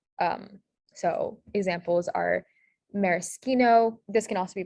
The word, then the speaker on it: maraschino: sound this is so sk in italian it's spelled with an sch um so examples are maraschino this can also be pronounced maraschino um but for this